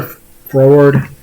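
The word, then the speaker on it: froward: looks pretty sure forward which is a very odd word to pronounce is it's written f r o wow i stumbled trying to spell a word anyway it's not i know i'm like pronouncing it kind of weird but it's it's spelled f-r-o-w-a-r-d if i remember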